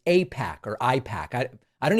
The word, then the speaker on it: AIPAC: To pretend that he doesn't know what Apac pretending doesn't know what APAC pretending it could be pronounced IPAC is just insulting to anyone who follows this channel.